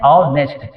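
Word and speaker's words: honest: तो इसका उच्चारण हम कहते हैं औ। क्या कहते हैं? ऑनेस्ट।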